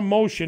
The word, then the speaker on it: Mohsin: So what we want to say is that Mohsin now, H is silent.